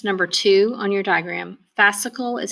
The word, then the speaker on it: fascicle: a fascicle that's number two on your diagram fascicle is how you say that it's kinda like